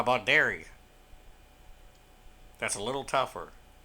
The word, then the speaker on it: Derry: We got Derry. I think it's spelled with an E, D-E-R-R-Y. It's not dairy like milk.